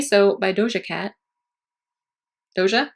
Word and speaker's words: Doja: so by dosha cat doja is how you say it George Cat Cat noise